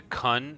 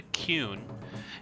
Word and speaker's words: Qun: will leave okay I've been calling it The Kun this whole time it's actually the cune and also I've been saying fetus and I